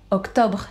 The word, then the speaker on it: octobre: Octobre instead of October.